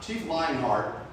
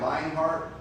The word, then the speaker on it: Lionheart: So Chief Lionheart, I said it right, Lionheart, L-Y-I-N-G, Lionheart.